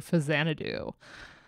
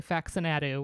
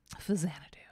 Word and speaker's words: Faxanadu: This is Jun Shikuma's soundtrack for Fasanadu, 1987. I said it right. I didn't say Faxanadu, which is what we like to call it on stream. Fasanadu.